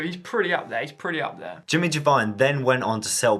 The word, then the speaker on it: Giovine: The Italian pronunciation for Giovine, which is spelt with an I, is Giovine.